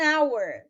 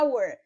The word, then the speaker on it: hour: Então, aí no exemplo eu tenho an actor, mas também tenho an hour, porque no caso aí o H é mudo, ele não tem som. Então, eu não vou dizer a hour, porque foneticamente dá a sensação de que eu sou gago, né?